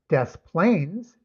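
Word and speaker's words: Des Plaines: Desplains kind of a similar situation, but you pronounce both s's.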